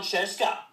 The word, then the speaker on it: Scieszka: what hi I'm John chesa rhymes with fresa I'm so funny are you kidding